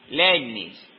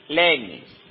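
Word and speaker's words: Leibniz: misma época vo a mencionar otro nombre para pronunciar no s alemán pero es godfried Lis voy a letrear el el apellido l e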